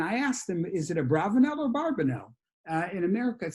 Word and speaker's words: Abravanel: said that he thinks the preferred pronunciation is a bravanelle but both are used so we can use those interchangeably i certainly can't cannot maintain that it should be uh a bravonel rather than a barbados